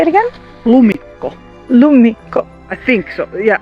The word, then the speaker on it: lumikko: think that this is what we call a lumikko. Like, The footprints? it's, yeah, the footprints of a How do you say it again? lumikko.